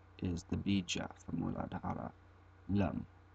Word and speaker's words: Lam: Above the triangle is the bija for Muladhara, Lam. It can also be pronounced Lang, the ng sound.